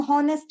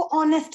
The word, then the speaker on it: honest: इसका ये जो एच है ये नहीं पढ़ा जाता, इसको हम साइलेंट वर्ड बोलते हैं, तो ये नहीं पढ़ा जाता है। ऑन, हम हॉनेस्ट नहीं पढ़ सकते हैं, हमें बिल्कुल वैसे इसको पढ़ना है जैसे इसकी प्रोनाउंसिएशन है, हमें इसको ऑनेस्ट पढ़ना है।